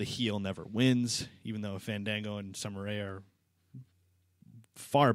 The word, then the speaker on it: Fandango: I think Santino's a better dancer than Fandango. He might be. Well, Fandingo. Or Fandango. Say it right. No, it's Say it Fandingo. right, say it right, or he won't fight. That's what Santino calls it, Fandingo.